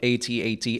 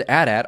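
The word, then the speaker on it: AT-AT: the Galactic Civil War also according to Lucasfilm both 8080 and a DAT are correct pronunciations for the vehicle there was also an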